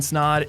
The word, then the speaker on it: Snod: my name is snod it rhymes with lot and welcome to the